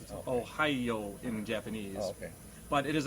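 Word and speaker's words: おはよう: hello in japanese right but it has one more syllable because japanese syllabiz everything ohio in japanese but it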